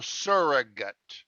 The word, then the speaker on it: surrogate: estimate approximate graduate but when it's an adjective or a noun the a is not stressed and becomes a you so surrogate surrogate father surrogate mother in